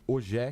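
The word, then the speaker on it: Ogier: E aí ele ficou ensinando os nomes franceses e ele falou Ogé de um jeito que eu não consigo imitar, mas é algo mais ou menos próximo a essa pronúncia.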